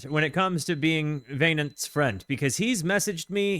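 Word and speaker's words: Wynand: Um but it's pronounced vain.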